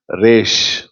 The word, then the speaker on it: Resh: இந்த 20வது சரணத்திற்கு தலைப்பு, 20வது எழுத்து ரேஷ். ரேஷ். ரெயின். மழைக்கு ரெயின் எப்படி ப்ரொனவுன்ஸ் பண்ண ஆரம்பத்தில் அந்த ஆற அப்படி ரேஷ்.